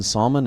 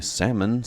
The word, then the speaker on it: salmon: One salmon, and she took me... Salmon? That's a weirdly pronounced word. Salmon. Why isn't it spelled S-A-M-O-N instead of S-A-L-M-O-N?